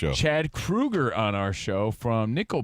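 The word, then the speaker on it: Kroeger: Um Chad Krueger is spelled Kroger, but he's like, "No, I mean, it's it's Krueger."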